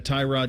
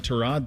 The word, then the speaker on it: Tyrod: It's kind of like the Tyrod Terrod thing. Remember when he did that? Yeah. Tyrod Taylor like Browns camp is like, "Yeah, it's actually Trod."